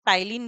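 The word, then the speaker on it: ptyalin: हैं क्या कहते हैं टाइलिन भी कहते हैं अब इसमें पी क्या है साइलेंट है ठीक है तो यहां पर इसको क्या बोलेंगे आप टाइलिन अब टाइलिन क्या करेगा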